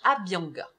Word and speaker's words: Abhyanga: Et en fait, elle a entendu parler du massage Abhyanga. C'est ça, je le prononce bien?